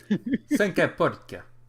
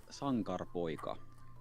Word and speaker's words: Sankarpoika: Sankapoika. I don't know. No. How do you pronounce it? Tell me. Sankarpoika.